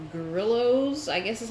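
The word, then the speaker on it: Grillo's: At Costco, we buy these pickles called grillos, I guess is how you call them. I don't know. I assume that's how you pronounce them. My mother would say grillos, but it's GRILLO''.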